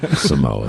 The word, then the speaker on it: Samoas: are the final game the Samoa Samoas brand Samoas minor technicality Keep this.